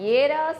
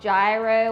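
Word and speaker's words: gyros: to Greece we are making some Yos and Yos as it's pronounced not gyro or jro or Euro it's y is how they say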